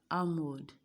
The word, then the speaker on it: almond: We have almond, we have become, we have quam, we have salmon, we have arms. Do you get it? So which of them is the silent letter? The answer is L.